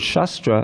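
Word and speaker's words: शास्त्र: root of the word shastra and shastra. Notice there's two different words, shastra with a long A and shastra. Shastra, of course, is scripture. Shastra is a weapon.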